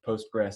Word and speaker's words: PostgreSQL: it post-grad school or postgres sequel those are all sort of interchangeable pronunciations um the yeah so